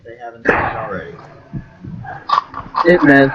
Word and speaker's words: Ip Man: Can you believe that for years I thought it was IP Man? Like, no shit, I thought it was like a fucking I movie. used to think that until I heard how it's actually pronounced. It's like Ip Man, right? Like, that's the real way to pronounce it.